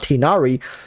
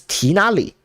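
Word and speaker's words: Tighnari: of the Chinese text I would be saying tinari because I I when I have questions about how to pronounce the name I always look at Chinese and it turns out tinari was not right yeah because it's tinally if you go look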